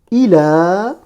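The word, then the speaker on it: إلى: C'est que ça se prononce comme un alif long.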